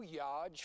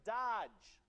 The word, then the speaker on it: Dodge: Okay, it's pronounced Dodge. I don't want to tell you how to do your job, pal, but I'm pretty sure it's a soft D. Let's just try Dodge.